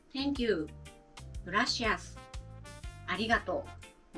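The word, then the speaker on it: ありがとう: これは Thank you、 Gracias、ありがとうです。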